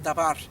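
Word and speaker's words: דבר: se pronuncia mimra y en el hebreo se pronuncia dabar y quiere decir palabra Así que mientras el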